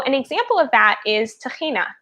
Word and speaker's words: tahina: So an example of that is tahina, which is how we say it in Hebrew, and tahini is how they say it in America.